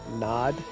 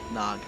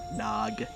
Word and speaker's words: Nog: Nod? Nog. That is how you pronounce his name. Oh, yes. People we haven't been introduced to yet. I kept hearing D instead of G. Nog.